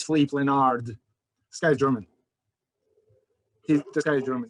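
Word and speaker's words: Philipp Lenard: you guys are thinking his name is flip philip leonard think again no that's not the way it is pronounced it's fleet leonard this guy is german he's this guy's german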